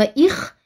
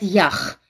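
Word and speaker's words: איך: Вместо нормативного «их» они везде говорят «ях».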